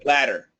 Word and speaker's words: ladder: Ladder. Ladder. So, ladder. absolutely the same. And uh uh and we would go with the D ladder.